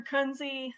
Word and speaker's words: Kunze: You pronounced it the exact way everybody always pronounces it. Don't worry. My name's Kunze.